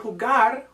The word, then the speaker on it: jugar: So the verb jugar, jugar, has a hard G sound.